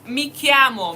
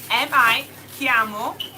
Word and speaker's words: mi chiamo: The next one is mi chiamo, mi chiamo. My name is. Mi chiamo. My name is. And how do we spell that? Mi chiamo, my name is. M-I. That's me, my. M-I. Chiamo.